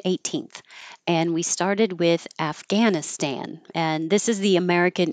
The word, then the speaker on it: Afghanistan: and we started with Afghanistan and this is the American English pronunciation that I hear the most often with a lot of a for American a afghanan Afghanistan and this